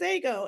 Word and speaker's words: Ego: and my name is ago and like I didn't want people I could have gone with an E like excellent ago but then I feel like people like excellent pronounced ago so I was trying